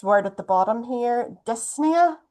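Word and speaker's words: dyspnoea: The medical term for breathlessness is this word at the bottom here, dysnia. you don't pronounce the P.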